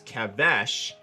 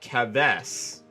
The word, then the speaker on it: Keves: i want to explain why i pronounced kevish as kavesh and not kevs this is the hebrew